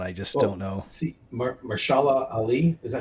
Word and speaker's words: Mahershala Ali: See, Mahershala Ali, is that how you say his name? Mahershala Ali, yeah.